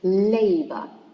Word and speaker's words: labor: Second one is labor, stressed in the first syllable because it's a noun that contains 2 syllables, so it should be stressed on the first one.